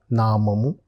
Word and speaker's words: Name: In German also, it is said in the same way with a different pronunciation, that is nama.